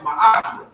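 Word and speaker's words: מעשר: Means tenth in the Hebrew and is pronounced ma'ashra.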